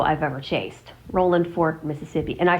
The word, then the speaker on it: Rolling Fork: I loved the name Rowland Fork. Now, of course, it's spelled with a g at the end, but I do not say it that way because that's not how they say it.